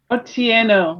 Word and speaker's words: Otieno: to strive for that is otieno oh tieno yes okay all right all right so our guest today Lily otiano is director of supply